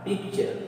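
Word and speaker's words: picture: यानी पिक्चर नहीं है, ये टी का उच्चारण क्या हो गया, चा हो गया, क्योंकि टी के बाद क्या है, यू आर ई, ये क्या है, यू आर ई, तो इसका प्रोनाउंसिएशन हुआ पिक्चर।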